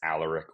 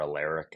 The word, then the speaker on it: Alaric: The Rams pronunciation guide says Alaric Jackson. People actually argue in the building whether it's Alaric or Alaric.